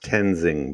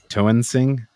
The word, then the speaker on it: Toensing: pronounced Tenzing, by the way. Is it? Yeah, because he told me. Okay, I see Toensing, but whatever. Toensing.